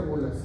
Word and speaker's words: bullas: Se escribe bullas, se pronuncia bulas.